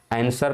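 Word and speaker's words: answer: आंसर पढ़ते हैं, ठीक है, आंसर पढ़ते हैं, लिखा क्या है? आंसर लिखा है। तो यहाँ पर साइलेंट वर्ड कौन सा है? तो यहाँ पर जो हमारा डब्लू है वो क्या है? साइलेंट है।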